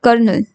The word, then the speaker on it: colonel: The dash, कर्नल, कर्नल की spelling COLONEL।